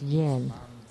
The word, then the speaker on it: yen: And the 6th syllable is yen. It's like the Japanese money.